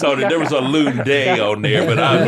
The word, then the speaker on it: Lunde: Yeah, and our next guest is all the way from Sweden, and it's Lunde, right? Lunde? I mean, you're gonna butcher it anyway, so Yeah. let's go for Lunde.